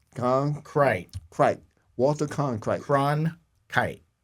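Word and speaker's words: Cronkite: kite Walter con kite cron kite cron like a crone and then a kite like you fly a kite okay good because I'm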